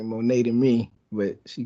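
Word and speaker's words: Moné: microphone but yeah Mercedes Monee or money what is her last name is it money she pronounced it like the currency like money but it it looks like Monet to me but she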